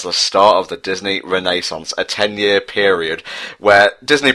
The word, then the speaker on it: Renaissance: The Disney Renaissance, to pronounce it correctly.